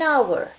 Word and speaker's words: hour: and with this because H is silent here and we give the sound of O which is wobble that's why we have used and with our so it's an hour B yes B refers